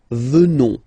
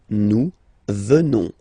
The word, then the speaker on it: venons: Final S not pronounced, so you will get the sound venons. Nous venons.